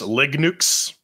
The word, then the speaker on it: Linux: to Yes uh Pedro it's pronounced Lig nukes thank you very much